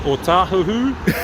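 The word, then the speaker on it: Ōtāhuhu: O tahuhu. You know? I've been working out Howard too long. Yeah, people, but yeah, pronounce it right.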